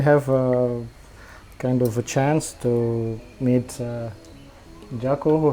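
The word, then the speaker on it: 禅: in japanese and and in chinese actually it's pronounced chan so i got in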